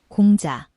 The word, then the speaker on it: 공자: In Korean, it is pronounced, 공자, in Japanese, 講師 and in Mandarin.